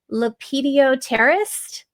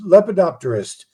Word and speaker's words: lepidopterist: that you are a leped terrorist. That's close. It's lepodopterist. You got to get the P.